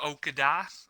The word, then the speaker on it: Okudah: So I'm going to go, obviously, I don't know how to pronounce it, Jeff Okudah from Ohio State. Yeah, I think he's number it's one. It's Okda. You don't even pronounce it.